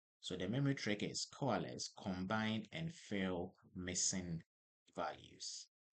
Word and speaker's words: COALESCE: So it is pronounced like this coales and it brings values together so there is less missing data.